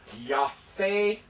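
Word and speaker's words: יפה: Notice there's no dagesh in pay, so that's an F sound. It softens it from a hard P to a F. So this is yafeh, and this is yafa.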